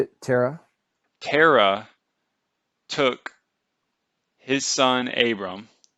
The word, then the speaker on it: Terah: All we know for certain is that Abram took, I'm sorry, what do you pronounce, how do you pronounce his name? Terah.